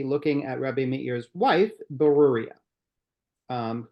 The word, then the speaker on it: Beruriyah: at rabbe meir's wife burua um who has a remarkably difficult to pronounce name but it's burua um so who's burua